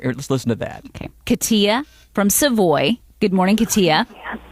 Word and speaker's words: Katia: Okay, Katia from Savoy.